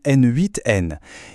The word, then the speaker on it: n8n: On peut citer par exemple N4N et attention, ça se prononce bien N8N.